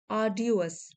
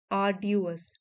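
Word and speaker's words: arduous: to success may बी आडस आडस आर यहां पे हम साइलेंट रखेंगे आर ड्यूस ये एडजेक्टिव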